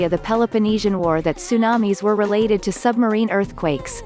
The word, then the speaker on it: tsunamis: as in the japanese some english speakers alter the words initial ts to an s by dropping the t since english does not